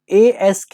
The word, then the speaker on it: ASK: anomalous state of knowledge, जिसे हम ASK या फिर आस्क नाम से भी जानते हैं, लेकिन इसका जो सही प्रोनाउंसिएशन है वो ASK ही होता है, ठीक है।